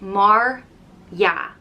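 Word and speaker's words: mar dhea: irish as if and it's pronounced mar yeah maria and it could be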